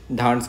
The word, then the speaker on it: Dhands: इसका प्रोनाउंसिएशन आप आपके तरीके से कीजिए, धांड्स कहते हैं उसको ओके।